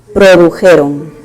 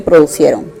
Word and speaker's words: produjeron: Y como está en plural, tiene que ser produjeron. Produjeron. No se dice producieron. Producieron no se dice, ¿correcto? Se dice produjeron.